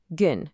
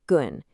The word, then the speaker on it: gün: The absolute bedrock of these broader horizons is a single day, gün, pronounced gün.